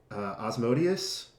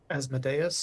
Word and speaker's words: Asmodeus: Is it Osmodeus? Asmodeus. Asmodeus, yeah.